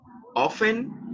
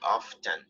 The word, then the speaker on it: often: you can say it often and you do not pronounce the letter t or you can say often but both are acceptable